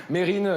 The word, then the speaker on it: Mesrine: 100 d'accord non mais c'est comme mérine il voulait pas qu'on dise mesrine nous répondent à leurs